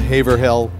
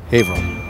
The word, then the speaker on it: Haverhill: It's not Hay-vrull, it's Hay-vrull.